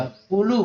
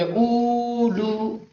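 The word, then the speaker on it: أولو: ایسے ہی، ٹھیک مولانا۔ یہ پہلا والا جو واو ہے الف کے بعد والا، یہ لکھا جاتا ہے لیکن تلفظ نہیں کیا جاتا، اولو پڑھا جاتا ہے، یہ پڑھیں گے اولو، ٹھیک مولانا جی۔ اولو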